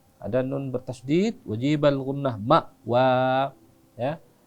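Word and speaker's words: مأوى: Ma'wa. Ya. Amzah itu hati-hati juga ya. Hati-hati juga ya. Jangan dibawa ke in, enggak. Bukan ma'wa, ma'wa. Ya, karena dia amzah.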